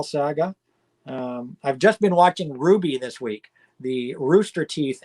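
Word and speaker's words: RWBY: and seven to watch ruby is a fantastic anime and north american made anime amazingly enough too and so i've been watching ruby spelt r w b y but pronounced ruby i've been watching that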